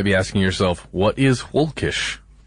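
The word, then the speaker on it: völkisch: also something called a hawkish group and that's with a V but pronounced the German Way right and you might be asking yourself what is hulkish it's a movement in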